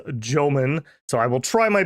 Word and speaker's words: Jomon: I was corrected that they do not have the soft J sound, which is definitely correct. Definitely is Jomon.